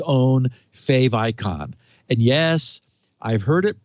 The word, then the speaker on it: favicon: stand yes yes a a fave icon is a contraction of favorite icon so no i am